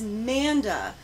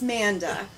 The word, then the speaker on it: Manda: This is Manda with an M. Not Amanda. We're not misspelling it here on JOKERJOKERtv. We're not mispronouncing it. It's Manda.